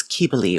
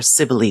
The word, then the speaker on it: Cybele: were the priestesses of the goddess Cybele, or Cybele, depending on how you want to say it. Cybele is closer to the Latin, so I say it like that.